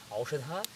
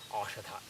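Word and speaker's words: औषध: So it's not Aushadha, but it is Ashadha.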